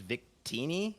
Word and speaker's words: Victini: you gnav uh I've been told it is Victini is how you pronounce the name vitini okayy so good to